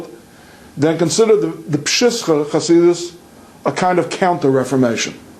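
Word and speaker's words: Przysucha: It's pronounced Pshischa. That's actually a town that I think the Jews and the Gentiles pronounce the same way.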